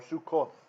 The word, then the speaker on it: Sukkot: So the syllable divides down the middle here. There's actually two samechs, right? Samech with a schwa. It's a silent schwa because it's after a chirek, so that ends the syllable. Syllable split, and then the next samech. And that's the one with the kibbutz. Mis Sukkot, from Sukkot, or Sukkoth, you'll see in English Bibles sometimes.